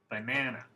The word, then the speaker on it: banana: So in this word banana, one syllable is different.